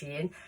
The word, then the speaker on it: Shein: I don't go to the likes of Shein, it is pronounced Shein, or Temu, and then go and buy a load of clothes and then do a haul.